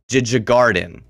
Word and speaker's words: Djurgården: There's a D and a J immediately after each other. Djurgården.